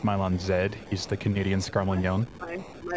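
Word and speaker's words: Milon Z: you're doing commentary with it's it's pronounced mylon zed he's the canadian scarlet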